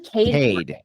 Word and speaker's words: Kade: just want to know is it pronounced K courtley Kade I believe Kade like C A D yeah okay what does